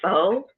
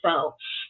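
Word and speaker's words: pho: tomorrow um I'm making I say faux but I've heard Lynn is actually in Vietnam and I've heard her say that and that's not how it pronounce but tomorrow I'm making Vietnamese Foe and it'll be later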